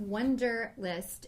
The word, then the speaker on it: Wunderlist: This is Wunderlist, and it's spelled with a U, and so make sure you get the right one.